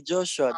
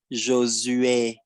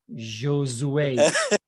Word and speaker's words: Josué: You can say Joshua. Joshua. That's Okay. the French of Joshua. So what is the Yeah. original pronunciation of your name? the original pronunciation is Josué. Oh my God. Josue.